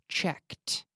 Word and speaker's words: checked: the past we say we pronounce it like a T sound so we say cheked cheked cheked so we